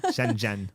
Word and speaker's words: Shenzhen: I say it you actually say it righten Shen Jen well don't worry when when you live in